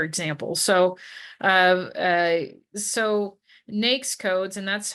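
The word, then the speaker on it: NAICS: management consulting for example so uh uh so nakes codes and that's how you pronounce that it it stands for na North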